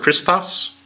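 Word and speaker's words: Χριστός: Christo's we see Christ we don't say Christ we don't have the CH in there we don't have we pronounce it with lake more or less a regular C sound we transliterate it with age but that doesn't mean we pronounce it that way and they can get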